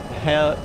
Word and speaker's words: Hel: Um, Sun Lee says, "Hel is pronounced as hell."